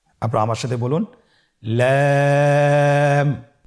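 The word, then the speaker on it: لام: লাম হরফটি উচ্চারণের ক্ষেত্রে অবশ্যই বারিক হবে এবং 3 আলিফ টেনে পড়তে হবে। আপনারা আমার সাথে বলুন লাম। লাম হরফটির মাখরাজ হলো জিহ্বার আগার কিনারা উপরের দাঁতের মাড়ির সঙ্গে লাগিয়ে উচ্চারিত হয়।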